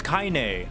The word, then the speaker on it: Kaine: we got another one you're saying my name wrong oh it's kaine oh like from near i see gotcha